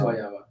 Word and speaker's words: guayaba: Oh no, yeah, it is guayaba.